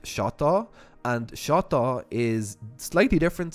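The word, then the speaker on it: شطة: The hot sauce in Arabic is pronounced shata.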